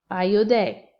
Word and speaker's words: ayudé: So sí, lo, ayudé, A-Y-U-D-E, accent on the E.